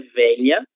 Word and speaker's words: velha: E novamente a gente tem a pronúncia da letra V, que é um som um pouco mais suave, se nós compararmos ao som B, B, que é um som bilabial, ok?